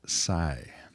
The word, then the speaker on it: Psi: The P is silent. Psi.